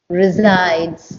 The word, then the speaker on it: resides: that can trans resides resides it's a zed the S is actually pronounced as a zed resides resides good okay